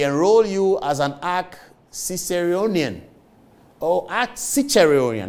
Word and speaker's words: Ciceronian: Ciceronian, that's the pronunciation. It's talking about Cicero, the Roman writer.